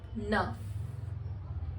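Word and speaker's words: neuf: are just starting विद यू एंड वी are pronounce it एज वीथ next is number nine which is नफ नफ number 10 is these these you कैन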